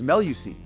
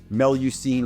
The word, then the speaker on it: Mélusine: And Joe approached me and said, well, the name is Melucine.